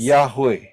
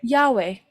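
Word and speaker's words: Yahweh: you read it as y he W he dan pengucapannya adalah and the pronunciation is yahwe yahwe jadi inilah nama Sang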